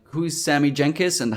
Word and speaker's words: Jankis: my opinion, is Sammy Jenkins. It's Jankis. Jenkins. No N at the end.